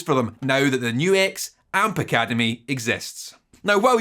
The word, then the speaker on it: NUX: brought to you by guitar world and obviously new x and yes that is how you pronounce it let's go back to basics for